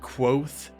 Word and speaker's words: Kvothe: And look, I know it's pronounced like Quoth, as he says in the book, but it's easier for me to say Kvothe than it is to say Kvothe, alright?